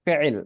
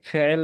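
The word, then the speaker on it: فعل: আরবিতে যখন বলবা তখন কিন্তু এই মাঝখানে আইন থাকবে, আইন।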